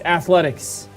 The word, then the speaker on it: athletics: It's athletics. Athletics. added an extra syllable in there.